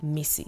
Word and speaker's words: Mici: that you call me missy missy spelled mici and pronounced m-i-s-s-1 that's right you need a pen grab one m-i-s-s-y in case you're wondering